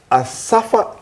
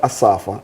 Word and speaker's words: Asafa: Well Asafa tell me say his name is not Asafa it's Asafa. But people just call him Asafa so I'm just saying all right. Yeah they put the emphasis on the wrong syllable.